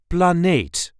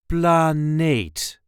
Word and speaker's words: planeet: This is the way we say planate. Planate unplanate or dplanate a planet or the planet. Planate. The emphasis here is on the second syllable.